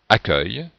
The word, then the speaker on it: accueil: et comme on prononce accueil donc on a inversé le U et le E voilà bien j'espère que